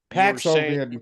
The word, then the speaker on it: Paxlovid: Yeah, It's PAX. I know that. I was spelling it wrong. I was saying PLAX, and it's not. It's PAX. Paxlovid.